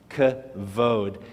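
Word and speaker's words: כבוד: Followed by the dalet, which is a D sound, kavod. And the word kavod means glory.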